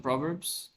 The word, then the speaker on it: proverb: No, I like some proverbs. Proverbs. How to say this? Proverb or proverb? Proverb. Proverb. Proverb. Proverb. Proverb. Proverb. No, pra. Not pro, pra. So a proverb.